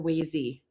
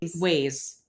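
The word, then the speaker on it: Waze: a question is it is it ways or wazy what are you even saying of course ways okay it's ways okay why would you ask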